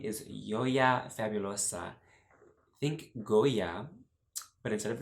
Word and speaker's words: Yoya Fabulosa: Although I don't mind like a more Spanish pronunciation, like Yoya, Fabulosa, that's fine too, but I like to say my name as Yoya Fabulosa.